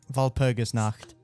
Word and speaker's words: Walpurgisnacht: Say it right. Walpurgisnacht. Walpurgisnacht. Walrus Because night. there is no W in German.